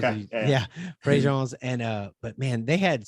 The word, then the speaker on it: Préjean's: and there's this place north of Lafayette, just north of Lafayette, called Préjean's. It's spelled pre-jeans for those of Okay. you. Yeah. Yeah, Préjean's.